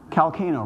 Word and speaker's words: Calcano: Calcano, rhymes with volcano.